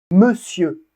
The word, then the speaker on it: monsieur: Monsieur. Monsieur. Donc là, on voit que le ON, c'est une exception, l'ensemble de lettres ON de monsieur se prononce E, un E fermé.